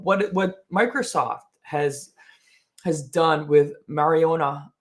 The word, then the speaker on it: Majorana: breaking news of what Microsoft has done with Mariana 1, and that's the way you pronounce it.